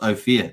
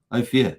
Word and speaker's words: Ophir: um hex Force once is pronounced oh fear is it oh fear oh fear okay cool I I